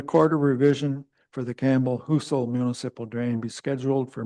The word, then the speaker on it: Husel: That's how you say it. I always call it Hustle. Husel.